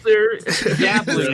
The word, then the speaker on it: Ghibli: It's pronounced Jiggly. Ghibli, I believe.